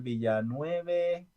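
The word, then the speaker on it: Villeneuve: Y bueno, siento que se olvidan muchos actores, perdón, muchos directores de cine como Daniel Villanueve, Ujú. así es que se pronuncia, es francés, ¿no?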